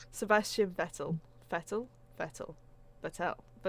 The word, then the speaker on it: Vettel: totally how it's pronounced fettle it's like more of an F than a v isn't it but it's not that